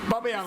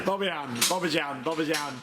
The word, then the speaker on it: Bobbejaanland: Bobbejaanland. Said it properly. Bobbejaanland. Yan. Here we go, we've got some ride models.